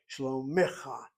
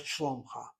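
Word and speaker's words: שלומך: The proper reading of this word is mashlomecha, mashlomecha, shlomecha, not shlomcha.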